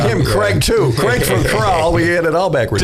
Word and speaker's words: CRAL: CRAL, CRAL. CRAL. I was close. We were close. I was saying CRAL, but it's CRAL. We get crawls. Yeah. And we were calling him Craig too. Craig from CRAL.